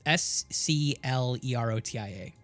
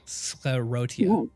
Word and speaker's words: sclerotia: you specifically have I again I can never pronounce this word. It's the s it's s c l e r o t i a scia s sclerotia sclerotia um which is effectively compact